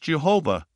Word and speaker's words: Jehovah: It is the first letter in the sacred name of Yod, Hey, Vav, Hey, which is pronounced Jehovah, which is Jesus.